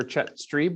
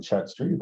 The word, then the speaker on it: Chet Stream: you sure did um it gets pronounced many ways but yes that is the correct version hi I am chat stream I serve as the